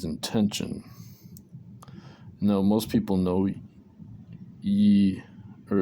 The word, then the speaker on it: Yi: Now, most people know yi, or it's pronounced E, Y-I, is intention.